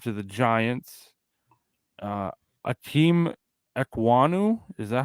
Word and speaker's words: Ekwonu: Akeem Ekwonu, is that how you pronounce that name?